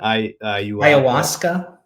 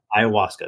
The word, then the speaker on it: Ayahuasca: Ayahuasca. Ayahuasca.